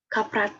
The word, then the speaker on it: kaprat: Dibacanya adalah kaprat kalau bahasa Indonesianya. Asam lemak, asam kaprat, laurat, miristat, palmitat, stearat, dan seterusnya.